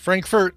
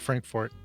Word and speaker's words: Frankfort: Not the same, yeah, because we have, look at Frankfort, Kentucky, which is, not Frankfurt, but Frankfort.